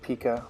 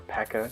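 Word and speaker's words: P.E.K.K.A: there it goes and out pops a pika or a pekka because apparently I'm saying it wrong according to some people a pekka and elune he's gonna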